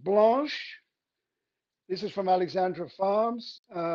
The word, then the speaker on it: Blanche: It's spelt like Blanche in a streetcar named Desire. That's Blanche. Blanche. Okay, got it.